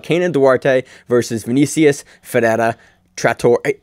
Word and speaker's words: Trator: was like, oh, that's not Tractor, that's Trator. Yeah. Oh, I've been calling him the wrong name. Well, it's like the American, I think, you know, or the English version of Trator. Yeah, but it's spelled differently and it's pronounced differently because it's a different word.